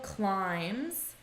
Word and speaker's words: climbs: she also climbs repeat listen to my pronunciation there's no B it's silent she also climbs climbs mountains every weekend